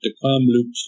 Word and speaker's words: Kamloops: and Council out at Kamloops first nation of decom Loops as it's pronounced and I was talking about what it